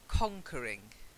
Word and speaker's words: conquering: your pronunciation was fine it was the stress so it's conquering conquering that's it perfect